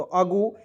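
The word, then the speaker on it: ago: को पढ़ लेता है ए का उच्चारण अ के रूप में जी ओ से होता है गो तो अगो या कहीं-कहीं ए जी ओ एगो पढ़ा जाता है ठीक है तो दोनों में से कोई भी पढ़ सकते हैं कोई दिक्कत नहीं होगा चलिए यहां प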